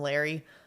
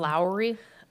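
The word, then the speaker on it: Lari: incredibly strict and that's spelled l a r i they said people in the neighborhood called him Larry but that's not his name so I'm going to call Lowry I think so I my pronunciation might not be perfect okay um but I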